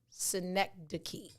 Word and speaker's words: synecdoche: today next the key phonetically it's written s-i-n-e-c-k-d-u-k-e-y synecdoche instead of saying i'm